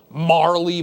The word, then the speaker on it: Marle: vanishes oh yeah and I'm calling her Marley by the way and not any other pronunciation so you better get used to it obviously with new